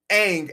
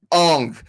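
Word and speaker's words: Aang: you're saying Avatar and the horrible way they pronounce Ang as on like no M9 Shyamalan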